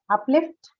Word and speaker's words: uplift: Uplift, Up. verb this is, no? So stress on second syllable, lift.